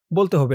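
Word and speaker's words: هُوَ: অকফ করার কারণে শেষের এই অক্ষর ওয়াও এর উপরে যে জবরটা আছে এই জবরটা সাকিন হয়ে গেছে। তো পেশের পরে যখন ওয়াও সাকিন হয়েছে তখন এক আলিফ টান হয়েছে উচ্চারণ হয়েছে হু।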